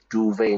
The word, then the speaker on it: duvet: Duvet, not duvet. Duvet. In English, we use the French pronunciation.